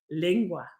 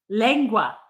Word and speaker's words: lengua: How about if I agree that they will be lingua or lingue?